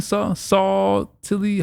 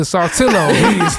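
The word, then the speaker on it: Saltillo: Salty. How do you say that? Sautillo.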